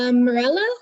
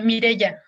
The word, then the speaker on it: Mireya: Hey, is it Morella? Is that how you pronounce your name? Yeah, you can say like that. Is that how you say it, or is it? I say Mireya.